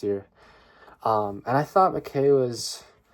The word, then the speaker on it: McKay: selected poems by Don McKay uh don McKay or is it maai I think it's pronounced maai um he's a he's a